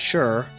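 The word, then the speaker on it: 市: But by the time we get to the Warring States period, the word shi, or possibly pronounced as shur, now meant the urban marketplace.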